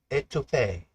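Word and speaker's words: étouffée: Uh soon Louisiana word for the day is et pronounced etu smothered Louisiana's slowimmit comfort.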